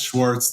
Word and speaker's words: Schwarz: Am I pronouncing that right? Yeah, it's Schwartz.